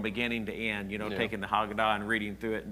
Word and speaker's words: Haggadah: There's a book called Haggadah, I think is the way that you pronounce it, and then it's kind